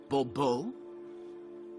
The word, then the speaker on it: Bobo: fine Monsieur de bubo the emphasis falls on the last syllable Bobo hmm see now I'd